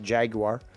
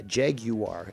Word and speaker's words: Jaguar: jaguar you do here's the thing you do pronounce it actually properly casey um most americans and canadians call it jaguar and that is actually incorrect uh jeg you are is the proper pronunciation and you say it